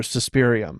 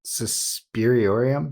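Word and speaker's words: Suspiriorum: marcos was actually mother suspirium yeah am i saying it right saspiriorium suspiriorium yeah okay i've been saying it wrong this whole time look like an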